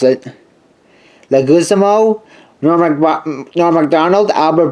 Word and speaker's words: Leguizamo: featuring the voices of Chris Rock John the lick legged how you pronounce it Leguizamo Norma Grotton na MacDonald Albert Brooks Gary's snarling